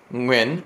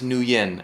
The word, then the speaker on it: Nguyen: I don't care so so the last name Nguyen it's pronounced right when and so she's like my name is nuyen and I was like